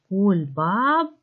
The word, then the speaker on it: кульбабка: Кульбабка а голосний. Давайте поставимо наголос відразу. Кульбабка. Покличте слово кульбабка. Наголос падає на першу літеру А, на другий склад.